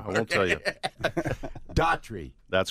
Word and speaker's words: Daughtry: Chris Daughtry, right? The guy made it big. So your name is pronounced just like his, right? Yes, it is. That's correct.